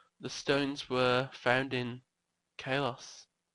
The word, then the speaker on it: Kalos: stones the stones were found in Kalos. So Carlos. Pronounce it now like Carlos Santana.